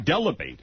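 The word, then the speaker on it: Dell'Abate: Also this day in Howard history, Gary Deabati, Gary Delabate, as he used to pronounce his name, hired a show producer on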